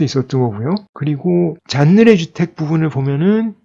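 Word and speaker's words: Jeanneret: 이쪽은 꼬르비제의 형인 알베르 잔느레. 꼬르비제의 본명이 에두아르드 잔느레였고요. 꼬르비제는 가명이죠. 건축이나 예술 활동을 하기 위해서 지은 이름인데요. 원래 이름은 잔느레였고 꼬르비제의 형의 이름이 알베르 잔느레. 그러니까 불어라서 T를 발음을 하지 않습니다.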